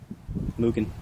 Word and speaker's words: Mugen: Mugen.